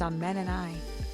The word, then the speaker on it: Ammani: She introduced herself, saying, "My name is Ammani, and it's actually pronounced Amen and I."